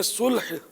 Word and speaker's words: صلح: سلو تو صحیح تلفظ بہرحال یہ کہ وہ یہ کہ لام ساکن ہے، تو اردو میں صلح، اور یہ اصل لفظ عربی ہے.